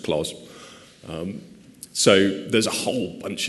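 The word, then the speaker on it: Clos: in this talk, that I think his name is pronounced clause.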